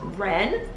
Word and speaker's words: Rennes: It's actually pronounced Rennes.